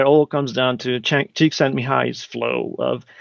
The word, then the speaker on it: Csikszentmihalyi: Yes, so if I can claim any fame, I can pronounce Csikszentmihalyi and spell it.